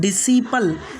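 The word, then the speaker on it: disciple: जैसे कि सीन, पहला वर्ड है सीन, दूसरा वर्ड है डिसिपल, तीसरा वर्ड है मसल, उसके बाद में चौथा वर्ड है सेनेरियो। यहाँ एस के बाद सी आया इसलिए यहाँ पर सी साइलेंट होगा।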